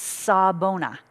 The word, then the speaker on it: Sawubona: book the title is sabona saw bonus spelled s-a-w-u which is silent b-o-n-a sabona is a greeting